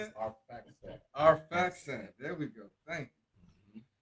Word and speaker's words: Arphaxad: Arphaxad.